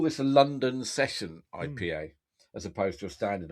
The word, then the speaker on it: IPA: little bars and the IPA craft ale scene in Italy is really starting to to blossom. Um, and they call it EPA. Yeah, my my pronunciation is corrected.